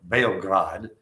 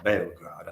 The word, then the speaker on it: Beograd: It's called Beograd. I like the way the Serbians pronounce it, so I'm going to call it Beograd.